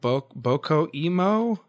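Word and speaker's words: BOCCO emo: But it's spelled B-O-C-C-O and then Emo. And the Emo is supposed to be like emotional.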